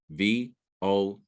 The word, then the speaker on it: Vogel: I'll spell it out, VOGEL, vulgar. And that's the noun of a verb. I'm not familiar with that word. Doesn't look English to me. What is it? It's German, and we pronounce it Vogel.